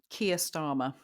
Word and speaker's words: Keir Starmer: Keir Starmer.